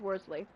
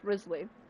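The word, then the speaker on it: Wriothesley: I honest to God thought his name was pronounced Worthy and I will pronounce it worsely every now and again hate this is pronounced Risley I can't even though I've never heard anyone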